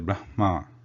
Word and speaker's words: Brahma: different so the pronunciation the correct pronunciation is how it is written Brahma rather we should say it should be written how it is pronounced it is Brahma only the Nevada Namaskar